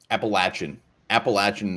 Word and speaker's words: Appalachian: Appalachian, I believe, is the way to pronounce it.